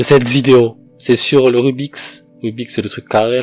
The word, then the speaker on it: Rubik's: C'est le fait que dans le Rubik, quand il y a un S à la fin, ça fait Rubik's.